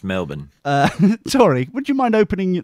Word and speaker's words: Melbourne: to Melbourne in a couple of weeks it's pronounced Melbourne sorry would you mind opening that that oversized